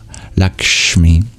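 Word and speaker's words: लक्ष्मी: don't have in English, like the S in Lakshmi with the dot below it. It's a similar sounding sibilant, but instead of arching your tongue up like we normally do to pronounce it, we curl our tongue back, and that's the retroflex sibilant, sha, Lakshmi.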